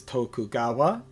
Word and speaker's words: Tokugawa: Uh and that is how uh it is pronounced also in Japanese is Tokugawa.